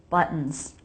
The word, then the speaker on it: buttons: The double T here is a stop T because it comes before schwa N. So put your tongue into position for the T, stop the air, buttons. Then make an N sound.